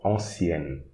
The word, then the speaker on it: ancienne: Ancienne, so you pronounce the N before. Ancienne.